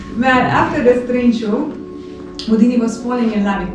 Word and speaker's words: Houdin: And to show respect, he took his name, because Houdin, it's Houdin in French pronunciation.